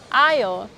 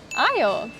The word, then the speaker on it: aisle: Now I'm in the canned food aisle. Notice when I pronounce the word aisle, I did not pronounce letter S. Isle. Isle.